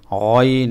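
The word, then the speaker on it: غين: এজন্য আপনাকে গইন একটু মোটা করে গ, গ এভাবে গ, গইন, গইন, গইন।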